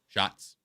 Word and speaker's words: Schatz: I think he goes out of his way to make sure that one's Shots, not the one that you said.